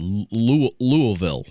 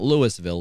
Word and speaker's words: Louisville: So he, a lot of people have been talking about Louisville because that's where John Cena trained in OVW in Louisville. Yeah. Can't call it Louisville, and it's not Louisville. It's Louisville.